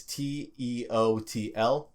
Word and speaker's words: Teotl: So their religion could be referred to as, I believe this word is pronounced Teotl. It's Teotl. It gets conflated a bit with the word Nahuatl, which is what their language was called.